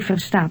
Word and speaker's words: verstaat: Hij verstaat Engels. Verstaat. Hij verstaat Engels. Note the T sound at the end of understands.